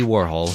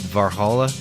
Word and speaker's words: Warhol: name some pronounce it varhola some varhol some warhola some Warhol as in whole but I always called it warhall as in U-Haul my name is